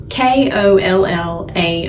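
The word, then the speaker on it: κολλάω: He used the Greek word, and I can't really pronounce it, but it's called Kollao with a long O, which literally means to glue together or to cement.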